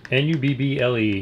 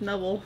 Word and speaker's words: Nubble: N-U-B-B-L-E. You pronounce it the way you want. I think it's Nubble because you put a B instead of an N as a bubble, so.